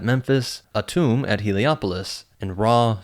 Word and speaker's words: Ra: Ta at Memphis, Atum at Helopoulos, and Ra, sometimes pronounced Ry the sun god.